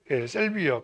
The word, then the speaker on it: 샐비어: 뭔지 알아요 사로미아예요 사루비아 사루비아를 셀비어라고 영어를 읽는 방식이 사루비아로 읽느냐 사루비아는 일본식 발음이겠죠 그리고 이제 샐비어 칸나 이렇게 나누고 있는데